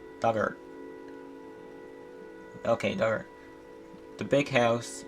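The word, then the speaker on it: Dugort: on the island pronounce the pronunciation dug like in the past tense of dig or rhyme should hurt duggar okay dart the big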